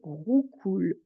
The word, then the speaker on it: roucoule: court toujours la tourterelle rou coule la tourterelle roucoule le re de roucoule c'est un R qui est au fond de la gorge rououle donc j'ai pas